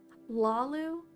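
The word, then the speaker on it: Hlaalu: Lalu? Silent H.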